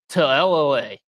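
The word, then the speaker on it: Talalele: And they're also missing 2 other offensive linemen, Mason Murphy and Amos Talalale, I believe is the way you pronounce that name.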